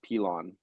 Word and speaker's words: Pilon: Well, I think the last name is pronounced Pilon. It's more kind of it's Francophone.